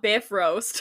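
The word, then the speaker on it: Bifröst: it from the website it says pronounced roughly b-i-f--dub Dash r-o-a-s-t which is if that's not Biff roast I don't know what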